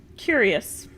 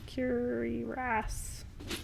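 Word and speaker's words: cuirass: this cler Stormcloaks car how do you say that curious should I keep the stor cloak curious no it's curas I think there's a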